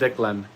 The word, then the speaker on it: Declan: Declan is pronounced Declan, like that.